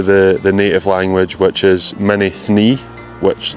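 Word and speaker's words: Mînî Thnî: I'll put it on the screen so you can see what it looks like, but I asked some people here and that is how they pronounced it, Mini Thni.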